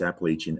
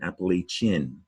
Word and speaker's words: Appalachian: Depending on where you live, you might pronounce Appalachian, Appalachian, a 4-syllable word. Take a look, see chin. Some people say Appalachian, right?